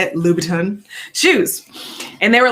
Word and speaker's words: Louboutin: um and i bought my first pair of louis vuitton is that how you say it louboutin shoes and they were like 800 and i